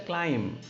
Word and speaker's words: climb: It's not, you can't use the word climb. It's a climb. M is the last word.